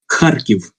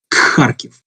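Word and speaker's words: Харків: Many foreign learners of Russian language make the mistake based on this weird transcription, where they would pronounce this here letter as K.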